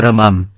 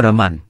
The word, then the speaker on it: วรมัม: คำภาษาอังกฤษก็เขียนคำว่า "วรมัน" มาตั้งแต่บัดนั้นเป็นต้นมา ผมศึกษาการใช้ว่า "วรมัน" แทนคำว่า "วรมัม" ที่ใช้มาแต่เดิม สงสัยเหมือนกันว่า ทำไมไม่อ่านตามจารึก เพราะจารึก เขียน "วรมัม" ทั้งหมด บัดนี้ก็ได้คำตอบแล้ว ผมจะอ่านว่า วรมัม ส่วนใครจะอ่านว่า วรมัน ก็เชิญตามสบายครับ.............